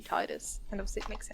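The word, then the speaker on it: Tidus: know i don't know i think like the official pronunciation i think is tedious but like it looks like it should be titus and obviously it makes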